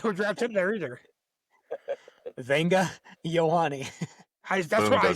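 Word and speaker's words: Vega Ioane: I also don't think they would draft Venga Uwana. Crushed it every single time. Never said it wrong once. Definitely not. I don't think they would draft him there either. Venga Ioane.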